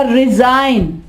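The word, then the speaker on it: resign: इसके अलावा रिजाइन, रिजाइन, यहाँ पे G साइलेंट।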